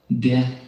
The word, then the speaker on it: det: When you see the letters ET in Norwegian, the T may be silent. And some examples of that are huset, huset, det, uke, uke.